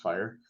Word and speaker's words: FHIR: Health interoperability resources um fhir but pronounced fire and and if we